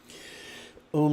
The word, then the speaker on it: Om: Om like home, Ben like London's Big Ben's are like a cat's paw.